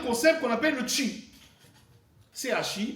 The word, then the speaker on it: chi: Un concept qu'on appelle l'aura, A-U-R-A, et un autre concept qu'on appelle le chi, C-H-I, donc on prononce chi.